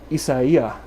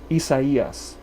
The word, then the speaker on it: Isaias: of the arrival of tropical storm isaiah not sure i'm pronouncing that right something like that isaias i believe that's right there is the potential